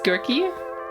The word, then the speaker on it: Gehrke: it wrong well there's two ways of saying it the American way is giry the German Way is